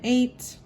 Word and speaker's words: eight: then if you remember eight is the only number one through ten that has the silent gh in it you can't hear the or the huh eight eight e i g